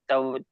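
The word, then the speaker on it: طوى: To fold is tawaya or tawa. Do you Is it right? pronounce Tawa. yeah? Tawa. Yeah. Tawa. Yes, the ya is silent.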